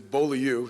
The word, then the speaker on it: Beaulieu: For those of you that don't know how to pronounce it, it is Beaulieu. It's a French term.